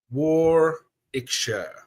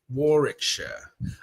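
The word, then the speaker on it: Warwickshire: Uh, ah, we don't pronounce the middle W. Warikshire. Warikshire.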